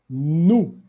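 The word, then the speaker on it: nous: plural personal pronouns so the first person plural is no so as you can see we write n-o-u-s but the s will be silent here example so if you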